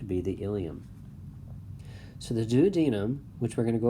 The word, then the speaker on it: duodenum: to the small intestine there's the duodenum also pronounces the duodenum either way but most commonly is the duodenum then we have the